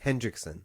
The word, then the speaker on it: Hendrickson: Hendrickson.